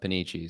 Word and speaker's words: Panici: pronounce your last name my last name is pronounced Peniche so my my name is uh Midwestern rhyme for sure Dimitri yeah yeah for sure I so it's like Panini except with the chi at the end yep I did not